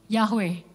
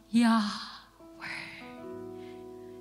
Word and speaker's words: Yahweh: Kalau misalnya nggak ada huruf vokalnya susah ya Bapak Ibu ya bacanya ya. Kita kalau baca ini biasanya apa? Yahweh. Kita tambahin huruf A, kita tambahin huruf E belakangnya. Jadi bisa dibaca secara vokal.